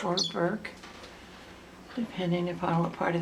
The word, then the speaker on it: Bourke's: So whether you pronounce an O or U, it's still the same wonderful bird.